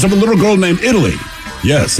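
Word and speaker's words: Italeigh: a little girl named Italy yes it is pronounced like the country of Italy but of course it's spelled different i-t-a-l-e-i-g-h or girl but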